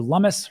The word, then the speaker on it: Lummis: So we're going to go over all that as far as Senator Lummis, rhymes with hummus, and what is actually going on with this legislation bill.